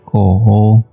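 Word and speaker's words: 狗: Kemudian ternyata kalau dikasih Fan Quan Pang, yaitu hubungannya dengan anjing, itu adalah nada 3, Ko.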